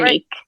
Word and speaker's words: Veronique: Veronique.